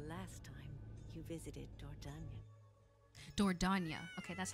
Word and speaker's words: Dordogne: Dordogne.